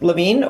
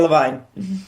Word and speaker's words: Lavine: Is it Lavine or Levine? Oh, yeah. Don't say Levine. It's It's Lavine.